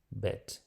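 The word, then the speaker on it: בּ: Então, se nós temos esse pontinho aí no meio, nós vamos pronunciar bet. Se não temos o pontinho, a pronúncia é vet.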